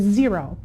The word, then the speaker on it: Xero: want to talk about is zero and zero is spelled x-e-r-o we do use zero